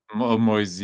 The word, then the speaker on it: Moise: even his first name, is it Moise or Moisey? Moisey, yeah. Italians are saying Moisey Moise Ken.